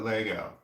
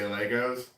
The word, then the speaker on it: Lego: know much Lizzy moss in the UK we call it Lego yeah we're Americans we say it wrong and we know saying it wrong we say Legos but that's okay and